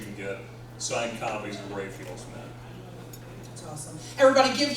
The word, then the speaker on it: Raphael: So you've got a couple of different places you can get signed copies of Raphael's Men. That's awesome. Everybody give Joe a round of applause. And I mispronounced, it's Raphael, not Raphael.